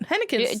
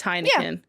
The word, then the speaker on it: Heineken: Henneken's Do you guys okay. not have Heineken? Oh, it's Heineken.